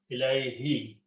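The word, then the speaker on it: إِلَيْهِ: And again in the tajweed you pronounce as kasra, ilayhi, because it's a ya sound is there, which is close to kasra.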